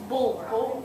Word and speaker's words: Bulwer: bull and then where. Bulwer. Bulwer.